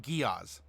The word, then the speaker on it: Giaz: So it wasn't 3 syllables. All right. So it's pronounced Giaz. Giaz, Giaz, Giaz.